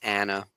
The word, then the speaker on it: Anna: Davis, Anna Graves, and it is Anna. We went back and forth on the pronunciation of her name, Anna Graves.